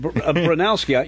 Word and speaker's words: Bronowski: I've always put the O in the wrong place in his name, and it's only when you pronounce it now that I realize that I dyslexified it.